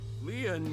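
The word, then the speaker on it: lien: name, Leon, is spelled L-I-E-N. In French, Leon means bond, just like Kizuna means bond in Japanese.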